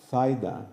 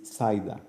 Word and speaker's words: Zaida: Everybody calls her in my lab Zaida, which is proper, right? Except me, because being from Costa Rica, she's Zaida. Right. But my students think it's great because they think is a pronunciation of the TH, you know.